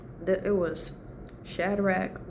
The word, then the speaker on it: Shadrach: The it was Shadrach, Meshach, and Abednego.